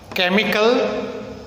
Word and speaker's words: chemical: Now there are some words in which the same letters CH are pronounced together as like K. For example, cord, chemical, CHEMICAL, chemical, not chemical.